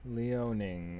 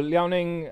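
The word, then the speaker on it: Liaoning: i a o n i n g yes leoning okay i'm gonna just put that on the chat for everybody and um awesome cool yeah no that's that's awesome um you know leoning um because we always ever just talk about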